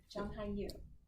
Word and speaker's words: Zhang Hanyu: Hello, my name is Zhang Hanyu. Zhang Hanyu. Did I do that right? Yeah, Okay. good pronunciation.